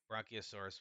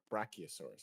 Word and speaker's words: Brachiosaurus: Bronchiosaurus was just a long serpent-like neck with the fat body, right? That's it, baby. I'm gonna go four. Four. Yeah, I said it wrong. Brachiosaurus.